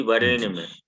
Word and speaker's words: वरेण्यम: अणो का उच्चारण स्थान मूर्धा है। जीव जी को जब ऊपर के मूर्धा में सटाएंगे, हाँ यहाँ ऊपर में जा करके, तो उच्चारण सही हो जाएगा, और यदि उसको दांत से सटाएंगे तब नहीं हो पाएगा।